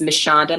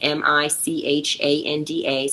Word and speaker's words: Michanda: So it's Michanda, my first name, Michanda. So I say Michanda spelled like Michelle and Shonda all squished together, but with the A for the Shonda Anda part.